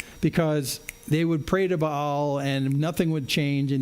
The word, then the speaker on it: Baal: It's actually pronounced Baal. It's B-A-A-L, Baal.